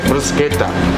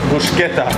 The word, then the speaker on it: bruschetta: get capricciosa, you get bruschetta, which is not bruschetta. Bruschetta. Bruschetta. Right. Italian pronunciation.